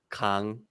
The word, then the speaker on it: Kang: If I say it in Korean, Kang.